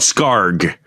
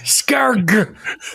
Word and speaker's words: Scarg: It's called Scarg. Scarg. Hard G at the end. Scarg.